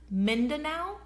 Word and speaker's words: Mindanao: and small hidden airstrips on the island of Mindanao, I think that's how you pronounce it, Mindanao.